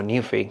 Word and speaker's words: Nuphy: Este es el Nuphy o Newphy, como dicen que se tiene que pronunciar, ah K175, eh lo